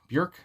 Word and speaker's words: Björk: end obviously so yeah uh bjork bjerk uh bjerk you know it sounds weird saying bjerk but i do know that uh that's how it's said in iceland i guess so anyway